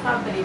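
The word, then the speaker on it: fabriek: Porque se fosse fabrique, seria distinto. Seria primeiro o I, depois o E, depois o K. Então é fabrique. Fabrique. Por quê? Porque o ditongo se soa como se um só.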